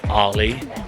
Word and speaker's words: Arley: Okay, so I've alighted at Arley, which sounds like you're saying my name in an American accent.